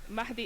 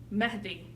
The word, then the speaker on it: Mehdi: it's like if I I noticed that for English speaking people it's very hard to pronounce that H part sometimes I say it's